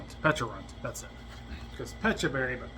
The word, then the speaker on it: Pecharunt: I can't remember how it's spelled or said. Pecharunt.